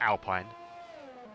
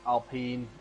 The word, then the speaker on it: Alpine: Yeah, it's going to be nice next year as well when they change it into Alpine. Or Alpine, however they're pronouncing it.